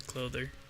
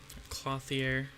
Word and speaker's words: Clothier: to have down here than the clother clothier my bad tend to pronounce that name wrong all the time but